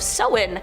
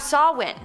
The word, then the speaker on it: Samhain: Starting off this countdown, we have Samhain, which I always pronounce as Samhain, but apparently it's Samhain.